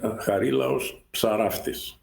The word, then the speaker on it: Harilaos Psaraftis: Well, Harilaos Psaraftis. Ah, okay. So I pronounce the P also.